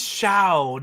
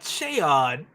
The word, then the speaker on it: Shaod: And he says Shao, not Shaod.